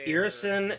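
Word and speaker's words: Irrisen: Just for those who are less familiar, Irisen, pronounced Ir-Isen, is a harsh, cold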